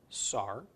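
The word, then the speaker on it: שר: finally with the scene scene with a comet's followed by a race pronounced Saur Saur is a prince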